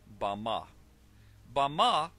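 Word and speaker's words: במה: in the Strong's Hebrew dictionary and it is pronounced bah Bama is most commonly used to refer to a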